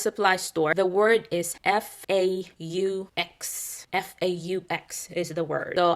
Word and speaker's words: faux: And I said, yeah, fox. And he's like, it's faux.